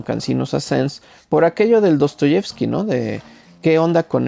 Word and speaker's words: Dostoyevski: el diptongo ruso y que se pronuncia aproximadamente y o sea dostoievski y dice dostoievski en este sentido también la